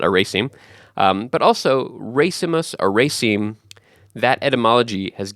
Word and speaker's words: racemus: It comes from the Latin word racemus or racemus. I'm not really good at pronouncing Latin, but it's R-A-C-E-M-U-S, and that means